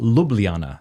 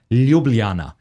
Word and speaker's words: Ljubljana: Even the name, it's not Ljubljana. They kept saying it's Ljubljana.